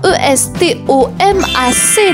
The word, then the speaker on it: estomac: E s t o m a c. La lettre muette. Le c à la fin, estomac.